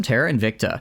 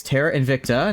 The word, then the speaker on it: Terra Invicta: But yeah, today some Terara Invicta in it's Terra Invicta, not Invicta. I don't I don't know where the extra syllable has come from.